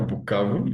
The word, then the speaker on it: Bukavu: Bukavu, that's the right pronunciation? Yeah, Bukavu.